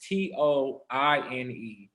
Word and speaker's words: Toine: My Toine is spelled a little different. It's Toine instead of the typical TWs.